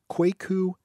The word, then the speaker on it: Kwaku: there was a good turnout you were debating quake ooh el and quake ooh is spelled K W a K you his last